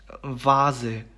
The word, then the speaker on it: Vase: 그렇기 때문에 발음이 vase가 됩니다. vase. 네, 영어의 V 발음과 똑같습니다.